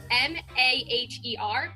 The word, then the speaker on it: Maher: you joined is that you spell your last name M-A-H-E-R, but it's pronounced Maher, correct?